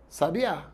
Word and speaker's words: sabiá: Eu posso pronunciar sábia, sabia, sabiá. Veja, são os mesmos sons, são as mesmas letras.